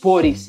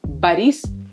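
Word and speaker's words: Борис: También está muy mal pronunciado el nombre Boris. Boris. No es Boris Yeltsin, sino Boris Yeltsin, el expresidente de Rusia, que le gustaba mucho el alcohol.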